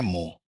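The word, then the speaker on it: mho: तो देखिए ओम का जो सिंबल है उसको हमने उलट दिया यहां पर इसको बोलते हैं मो स्पेलिंग भी इसका उल्टा हो गया है ओ एच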